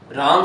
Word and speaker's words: रामः: इसके पीछे विसर्ग है, तो उसका उच्चारण करेंगे तो हम क्या बोलेंगे इसको? रामः। ये इसका उच्चारण स्थान हो गया ह, यानी कि रामः, अध ह के समान होता है रामः।